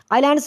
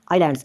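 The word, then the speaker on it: islands: तो next question है आइलैंड्स which is silent यानी इस क्वेश्चन में ये बताना है कि ये जो वर्ड है आइलैंड्स इसमें मतलब है कि जो साइलेंट मतलब एक लेटर कौन सा है एस है ए है आई है या आन है इसका राइट आंसर बनता है एस और ये जो एस है ये साइलेंट है अगर साथ मतलब क्वेश्चन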